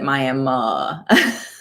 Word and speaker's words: Miami: looks like miami but if you go there you pronounce it my emma so miami is in